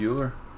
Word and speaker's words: Euler: So my mistake there, but Project Euler, not Euler, I guess it's Euler. You pronounce it Euler.